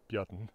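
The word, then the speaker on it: Björn: in Old Norse names the simple name Bjorn modern isic pronunciation Bon is uses a man's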